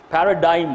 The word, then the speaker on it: paradigm: is for a paradigm Paradigm I'm sorry Paradigm g is silent a paradigm that encourages